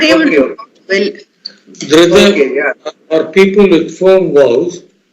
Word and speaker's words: Dhrita: The D has to be Dhrita. The D has to be pronounced as Da.